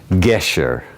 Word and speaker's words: Gesher: do you pronounce the first word? Gesher.